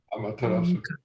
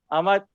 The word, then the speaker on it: Amaterasu: Amaterasu. Hey, can you pronounce that again? Amaterasu.